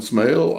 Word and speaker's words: Smale: I should have asked you how you pronounce the last name before we started. Is it Smale? It is Smale.